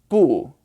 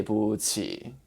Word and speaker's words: 不: in your mouth and it's a taller vowel so ooh boo but in this phrase you say with the neutral tone and just kind of glide over it okay so you say